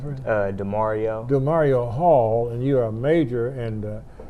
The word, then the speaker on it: Demorio: Now you are, how do you pronounce it? DeMario.